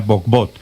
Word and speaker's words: Bohbot: No sé si pronunció bien el nombre del. El. Bugbut, pero se pronuncia bugbut, pero está bien que lo digas así en en el extranjero siempre lo pronuncian así.